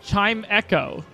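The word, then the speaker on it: Chimecho: it's it's chimco right it's chime Cho it's not chime Cho it's chime Echo what do you mean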